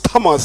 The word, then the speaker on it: Thomas: Saint is Thomas. Thank you. The H is silent.